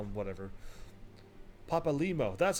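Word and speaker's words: Papalymo: Papalimo, that's how you say his name.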